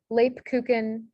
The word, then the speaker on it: Lebkuchen: So two examples of this are Lebkuchen. So you have the A sound in Lebkuchen spelled with an E, and then Flamen.